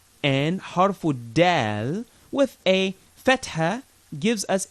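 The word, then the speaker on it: دال: Now this is dal, like you're smiling. Dal, not dad, as if you're about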